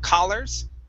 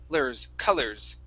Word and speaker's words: colors: the word colors okay so instead of C collors okay it's C colors colors colors colors so this is going to be an uh sound one more time C